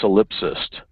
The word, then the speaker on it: solipsist: Now I got to learn how to pronounce solipsist. I want to say solipsist. It's solipsist? Oh, it is. You got the wrong emphasis on the wrong syllable.